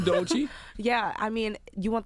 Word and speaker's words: Doechii: Doechii, welcome. Hi. How you doing? I'm doing good. Did he pronounce that right? Doechii.